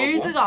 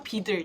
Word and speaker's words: BUIDL: 빌드가 아니라 비들.